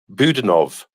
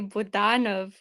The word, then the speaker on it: Budanov: was going to say budanov was probably the right uh pronunciation not Budan how you're saying it okay budanov okay